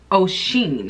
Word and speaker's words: Oceane: So that last wig was Anisha wig that I did, and then this was the Outre Oceane is what I'm gonna call it, because it's spelled O-C-E-A-N-E.